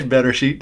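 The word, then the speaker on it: בראשית: So it's Bereshit is the first word of the Bible. Do not pronounce it differently. Bereshit is the right pronunciation.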